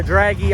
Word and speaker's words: Dragy: to do something really cool i run a draggy on my car when we're running no prep